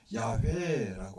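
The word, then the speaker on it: Yahweh: 있는 자를 여호와라고 이야기하는데, 원래는 히브리어는 여호와라는 단어를 말하지 않습니다. 원래 정확히 발음으로 이야기하려면 야훼라고 해요.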